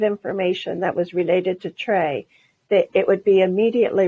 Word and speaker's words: TRE: and equity focused and took the first three letters of those three terms t r e and chose to pronounce it trey and once we had